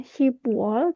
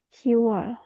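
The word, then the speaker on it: 시월: Tapi untuk khusus untuk Juni dan Oktober, biopnya dihilangkan menjadi Siwol untuk pelafalannya. Dan untuk bulan Oktober bukan Shibwol tapi Siwol.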